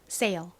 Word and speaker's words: sail: 그런데 지금 보시는 이 단어처럼 뒤에 모음이 오면요. 보통 S가 세게 된 소리처럼 발음이 나요. 거의 쌍시오처럼 발음이 납니다. 여기에 ALE에 AL 발음을 더해주면 sail이 되죠. sail.